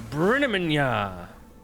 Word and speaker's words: Brin: well you know what my name isn't even Brian it's Brin try pronouncing that on